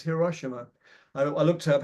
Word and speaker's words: Hiroshima: that's the way I think it's not Hiroshima it's Hiroshima I I looked up